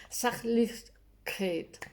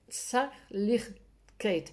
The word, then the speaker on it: Sachlichkeit: que tengo que leerlo, Sachlichkeit. Sachlichkeit. Es que la CH en una zona de Alemania se aspira, en vez de decir ich, dicen ich, ¿no?